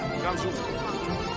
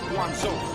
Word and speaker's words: Guangzhou: How do I pronounce it? Guangzhou. Guangzhou. Guangzhou.